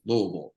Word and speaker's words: Louisville: that you know know I pronounced the city right that it's Louisville it's not Louisville like little things like